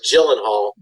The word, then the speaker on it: Gyllenhaal: It's pronounced Gyllenhaal, but it's spelled like Gyenh Hall. I call him Gyllenhaal.